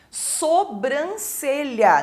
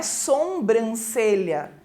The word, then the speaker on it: sobrancelha: um R depois também sobrancelha não é sombrancelha né Não tem aquele M ali depois do o o reivindicar que também